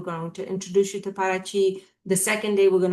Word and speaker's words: Paraty: before we drive to Paraty. And Paraty, or Paraty, the way they pronounce it in Brazil, is a historic little town 3 hours away from Rio.